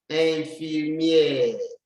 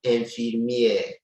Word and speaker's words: infirmière: You see the accent on the E, like this one, will make it sound E. Infirmière. But the E at the end will not sound.